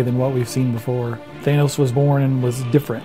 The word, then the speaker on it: Thanos: a really bad guy i always say thanos i think most of us say thanos but joe casada scolds us and tells us his thanos because i guess that's the original greek pronunciation my argument is that